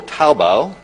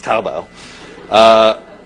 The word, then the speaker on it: Taobao: There's also Taobao. Did I get it right? Did I pronounce it correctly? Okay. I've been practicing for the last 5 minutes, Taobao, which is basically a combination of, imagine if